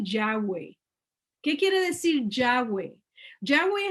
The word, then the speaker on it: Yahweh: Yahweh es la manera que nosotros pronunciamos las 4 letras del nombre de Dios o del nombre de nuestro Elohim. Yud, Hei, Vav, Hei son las 4 letras hebreas y nosotros le pusimos vocales y lo pronunciamos Yahweh.